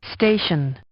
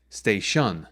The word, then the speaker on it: station: That stress on the first syllable helps to create its natural shape as we're used to hearing it. So if we stress the second syllable, which shouldn't be stressed, then we'd get station. So that just sounds weird, and it's not how we're used to hearing it.